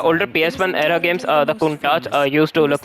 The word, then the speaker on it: Countach: from the uh announcer, Countach uh pronounced Countach. Countach, by the way, it's Countach.